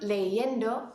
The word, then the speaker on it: leyendo: All right, I hope you said estoy leyendo for that last one, which is the correct pronunciation.